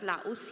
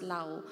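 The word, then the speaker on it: Laos: will send a team to Lao Uh we pronounce that as laus here But it is pronounced as Lao and Soon in God's timing hopefully Myanmar because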